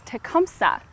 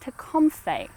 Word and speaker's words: Tecumseh: But if you were to listen to someone from the Shawnee tribe say his name, it would have been pronounced Tecumseh.